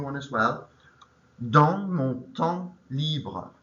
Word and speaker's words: temps: D-A-N-S, M-O-N, temps is T-E-M, silent P, silent S, and then libre is L-B-R-E.